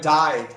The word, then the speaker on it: dye: Yeah, but same pronunciation, just different spelling.